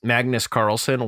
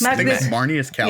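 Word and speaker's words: Marneus Calgar: cards that are super awesome the Warhammer decks Magnus Carlson one of the one of the uh one of the face commanders for the 40K decks I think you butchered that name probably Magus it's marus Cal oh my gosh Magus Cal say a name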